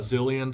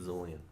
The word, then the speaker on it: Zilean: his name right here how do you pronounce it zillion zillion zulian I think it's z-i-o it is well we'll go with I'm going with zillion you can go with zulian